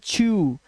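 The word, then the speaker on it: chew: तो ड का जो उच्चारण करोगे वो ऊ कर देना क्या कर देना ऊ इसीलिए इसे पढ़ते हैं छू इसे पढ़ते हैं कैशु बादाम इसे ब्लू स्क्रू और ग्रू इसलिए यहां पर डब् का उच्चारण ऊ हो गया है कब सी एच एस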